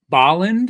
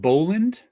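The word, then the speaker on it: Bolland: It's pronounced Baland and not Boland.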